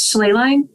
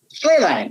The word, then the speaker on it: Schlehlein: of even trying um how do you pronounce your last name it's slay line sleigh line okay that's I think I was gonna get